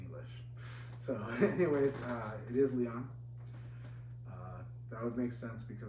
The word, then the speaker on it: Lion: supposed to be pronounced Leon, because the Japanese pronounce him as Leon. And as opposed to how Americans like to call him Lion because of the way that the Japanese spelled him in English.